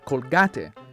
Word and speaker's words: Colgate: In Argentina, Colgate, the toothpaste brand, is pronounced Colgate, and Colgate roughly translates into "go hang yourself."